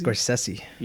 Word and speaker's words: Scorsese: How do you pronounce his last name? Scorsese.